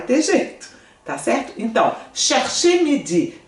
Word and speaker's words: chercher: Chercher, aqui eu só não pronuncio, eu vou pronunciar aqui, então cher. Aqui eu falo o R, tá?